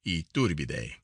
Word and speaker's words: Iturbide: Mexico has several good hotels of their kind, and most of them equal, if they are not superior, to the Iturbide, pronounced Iturbide.